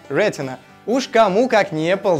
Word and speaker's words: Retina: дисплея с технологией Рена мы будем ставить ударение на первый слог Рена уж Кому как не